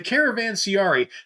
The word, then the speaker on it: Caravanserai: The Caravanserai.